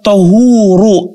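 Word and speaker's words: طهور: Tentang hukum air laut, kata beliau, huwa tahuru, air laut itu tahur. Bifathi ta, ta bukan tu, bukan ti, dengan garis fathah atau di atas ya, berarti bacanya ta.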